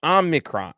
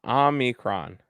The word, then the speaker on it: omicron: um what is so is there an n in there no no it's omnicron omicron right yeah you got it